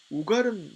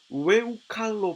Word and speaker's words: 우갈: 그렇다면 이디엘과 우갈은 누구일까요? 이디엘은 이티엘로 발음해야 하는데 그 의미는 하나님께서 함께 하셨다라는 뜻입니다. 우갈은 우에우칼로 발음해야 하는데 그 의미는 삼키운이란 의미를 지니고 있습니다.